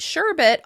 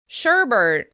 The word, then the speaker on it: sherbet: The frozen treat sherbet often gets an extra /r/ at the end as well: sherbert.